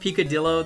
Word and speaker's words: picadillo: It's pronounced picadillo, though, Lonely, like armadillo.